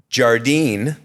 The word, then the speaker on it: Jardine: special guest today and I hope I I pronounce you I think I'll get your last name correct Callie Jardine correct and then know is it guali is